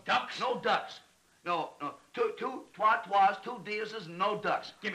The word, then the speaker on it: trois: Alisi, Troy, Troy, Ducks, Ducks. You don't say it the way you spell it. It's trois, dear, dear.